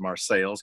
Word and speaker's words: Marseilles: But that's just me in front of the ancestral Morello home in Marseilles, Illinois, spelled like Marseille, France, pronounced Marseilles because it's in central Illinois.